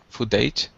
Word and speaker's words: footage: the left side uh footage footage footage yeah not age age footage footage perfect perfect